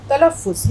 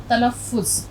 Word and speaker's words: तलफ़्फ़ुज़: तलफ़्फ़ुज़, यहाँ हम आवाज़ निकालेंगे फ़े की। इसको अगर हम रोमन में भी लिखें तो रोमन में आप इसको इस तरह से पढ़ेंगे तलफ़्फ़ुज़।